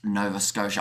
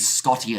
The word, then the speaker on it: Nova Scotia: And Nova Scotia, it's pronounced Nova Scotia. I said Scotia, didn't I?